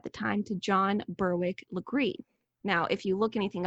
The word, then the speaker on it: Legare: like it is pronounced Legare but it has a little bit of a French pronunciation Sol agreed this is